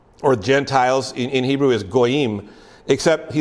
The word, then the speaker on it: goyim: The word for Gentile or Gentiles in Hebrew is goyim, except he said, you can go back and find records. The way the Pharisees pronounced the word goyim, it was like they were spitting.